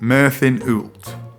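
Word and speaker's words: Myrddin Wyllt: Apparently it's pronounced Merlin Ult.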